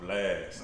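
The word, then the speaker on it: Blxst: i've been listening to a dude called blast all right but it's spelled b-l-x-s-t all right where you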